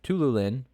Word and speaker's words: Tiuliulin: these names his reeve or khizriev versus uh tululin here you you you look at this and you you pronounce it dennis tool it's tululin but t-i-u-l-i-u-l-i-n and then uh alias elias cobb